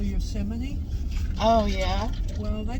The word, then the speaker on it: Yosemite: No, it ain't pronounced Yosemite. It's Yosemite.